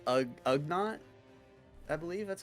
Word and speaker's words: Ugnaught: Oh, is it it's Ugnaught?